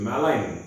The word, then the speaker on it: malign: word in english is malign m-a-l-i-g-n what is that gn no we keep some things in silent in english that silence is because they couldn't pronounce it so there is no